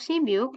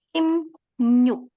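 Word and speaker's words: 십육: Nah, di sini tapi untuk sibyuk, ya Robun, boleh dihafalkan bahwa cara baca sibyuk yang benar adalah simnyuk. Simnyuk. Karena ketika biak ketemu dengan yu, maka akan dibaca sebagai M dan new.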